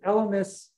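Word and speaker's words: Elymus: of wild rye is elemus with a short eye short y met gregoria not metcor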